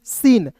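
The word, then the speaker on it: scene: सीन एस सी ई एन ई सीन। और याद रखिएगा दोस्तों आगे नियम मैं बताने वाला हूं कि अंतिम में जो भी आता है ई ई को साइलेंट करते हैं। समझ गए? तो यहां पे देखिए एस सी ई एन ई सीन पढ़ेंगे।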